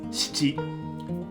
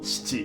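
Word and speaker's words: しち: Nhớ giải thích rằng số bảy là "shichi" chứ không phải "chichi"! *Chichi trong tiếng Tây Ban Nha có nghĩa là ngực phụ nữ. Trong tiếng Nhật, "shi" và "chi" là hai chữ khác nhau.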